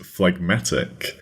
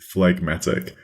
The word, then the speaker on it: phlegmatic: for episode 49 is fmatic fmatic that's spelled p h l e g m a t i c fmatic so it's got that phf sound at the start and fmatic is an